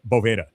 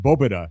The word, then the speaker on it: Boveda: And yeah, and so he was like, it's actually pronounced Boba like almost like because V's, right, in the Spanish language in many instances are pronounced like a B.